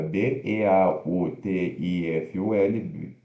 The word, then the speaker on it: beautiful: bonito né ou bonita b e a u t i f u l beautiful né mas pronunciosa sílaba tônica b e rápido Beautiful Beautiful de